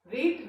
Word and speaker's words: read: Read root form है, past form में spelling is same READ, but in the present form it is pronounced